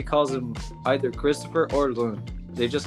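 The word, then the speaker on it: Kristoffer Lund: them all pronounce it Lund like he's American. But we got to remember he's from Danish origin, so I just wanted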